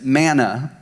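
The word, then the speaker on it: mana: ladies in aramaic the word vessel is manna m-a-n-a its root comes from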